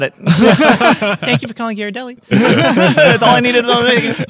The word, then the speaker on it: Ghirardelli: story of Ghirardelli and also how to properly pronounce it yeah you got it right Ghirardelli is it Gyarados I went straight to the source okay because